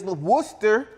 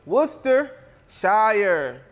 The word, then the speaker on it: Worcestershire: How do you pronounce that? They be like Worcestershire sauce. No, ho. It's Worcestershire. Worcestershire. Say it with me. Worcestershire.